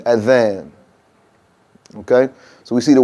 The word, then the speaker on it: Adhan: That's a soft TH sound, like the word this or that. So we say Adhan, Adhan. Okay? That's right. Tongue between your teeth, Adhan.